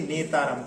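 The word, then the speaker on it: नेतारं: तो नेतारम में वहां पर डबलता नहीं है, इसलिए नेतारम। कई बार लोग पढ़ते पढ़ते जैसे भेदतारम करते ऐसे नेतारम कर देते हैं, तो इसलिए इसके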